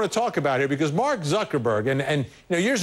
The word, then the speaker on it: Mark Zuckerberg: have it on tape if uh sure it's Mark Zuckerberg how would you like to be identified your